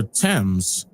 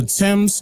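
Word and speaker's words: Thames: for example the river temps the longest river in England was named after him notice that it is spelled with a t followed by an H but the H is silent and their dialect the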